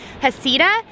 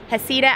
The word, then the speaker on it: Heceta: of hecata Head Lighthouse I say heck it ahead but I think some people also say hasida so hecata hasida I'm not sure which